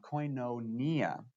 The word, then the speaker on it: koinonia: these little v's it's it's the letter noon it's pronounced with an n this is omega pronounced with the o sound coin no nia if we have quainonia